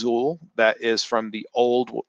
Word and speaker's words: XUL: if it says xul uh that's the zuul pronounced zul that is from the old staff client if